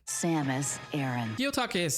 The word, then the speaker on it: Aran: And though his name is pronounced Aranch, the pronunciation of Samus' surname is confirmed to be Aaron. Samis Aaron.